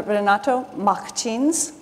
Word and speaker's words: Renato Martins: Renato Martins. He tells me this is how it's pronounced in Brazil.